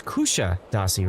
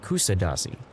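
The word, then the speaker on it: Kuşadası: Is that how is that how you pronounce it? It's it's it's Kusha Dasi, right? Not Kusadasi.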